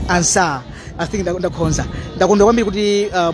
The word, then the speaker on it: Ansah: Jenny Ansa I think the name machitira pronunciation Dr. Jane Ansah, not Ansah. This is Ansah.